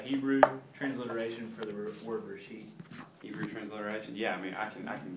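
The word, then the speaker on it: רֵאשִׁית: Reshith. It's Reshith. So Yeah. Reshit? that. Yep. Yeah, TH is on the end, Reshith.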